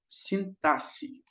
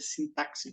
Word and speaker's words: sintaxe: morfologia e nós temos a sintasse Sim essa pronúncia mas eu acho que hoje em dia já é aceito a pronúncia sintaxe não tenho certeza a morfologia ela se